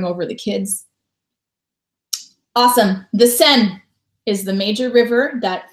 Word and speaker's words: Seine: I pronounced it the Seine. Whoopsies, I maybe should have looked that up before I started teaching junior high kids. And then when we got to Paris, everyone was pronouncing it the Seine, like S-E-N.